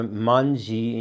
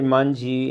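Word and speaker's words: まんじ: Like, for instance, in China and Japan, you have the wanzi or the manji in Japanese. That's the Japanese pronunciation of the same Chinese characters, meaning literally the character 10,000.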